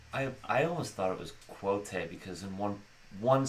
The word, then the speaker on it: Kvothe: and so Patrick Rothfuss referenced the Yiddish word kvetch as kind of the same KV sound at the beginning, and then he said the O is like whole or roll, and then the E is silent. So from there I get kind of a Kvothe.